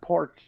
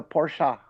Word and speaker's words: Porsche: It's not Porsche, or Porsche in American. It's a Porsche. ugh, I have to say, I hate the Porsche pronunciation.